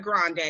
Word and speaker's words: Grande: When that 7 Rings came out, Ariana Grande, because she's white. She's not. Oh yeah, Grande. Excuse me, it's not the Grande like the coffee. So people have been saying her name wrong for years.